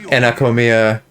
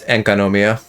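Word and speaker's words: Sangonomiya: wrong the whole time it's not anakomia it's ankanomia i'm a brainlit no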